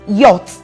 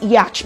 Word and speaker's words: yacht: the next word is yot it's a monosyllabic word but it's commonly pronounced as yacht by the word ace